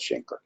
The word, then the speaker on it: chancre: You know, I think the original pronunciation is canker, but people have canker sores, C-A-N-K-E-R. So to differentiate, a lot of people call it chancre.